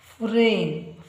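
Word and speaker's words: frame: ಇಲ್ ಓ W below ಫ್ರೇಮ್ ಫ್ರೇ ಫ್ರೇ ಎ ಗೆ ಇಂಗ್ಲಿಷ್ನಲ್ಲಿ ಎ ಉಚ್ಚಾರ ಬರುತ್ತೆ ಫ್ರೇಮ್ ಇಲ್ಲಿ ಈ ಉಚ್ಚಾರ ಬರೋದಿಲ್ಲ ಕೊನೆಯ ಈ ಉಚ್ಚಾರ ಬರೋದಿಲ್ಲ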